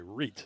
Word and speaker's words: Wright: It's Charles Wright who's come in there for the first time. Sorry. Reit is how you pronounce it.